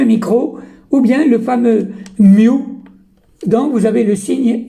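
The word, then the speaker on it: μ: Le mu, on le prononce comme ça, mu, c'est le micro que nous avons vu et qui est égal à 10 puissance moins 6.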